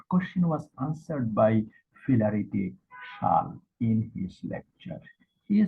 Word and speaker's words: Chasles: The spelling Chasles, but pronunciation will be Schall.